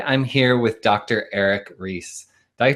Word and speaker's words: Reis: Eric Ries I pronounced your name right I forgot to ask